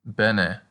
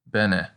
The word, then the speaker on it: bene: we can practice with bene which means well as in you speak latin well it sounds just like benefit bene and the long a